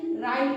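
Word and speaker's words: write: आईटी लिखा हुआ है डब्लू आर आई टी तो य डब्लू के तुरंत बाद आर आया है ना डब्लू शब्द के तुरंत बाद आर आया यानी कि इसे हम क्या पढ़ेंगे राइट पढ़ेंगे यहां पे डब्लू शब्द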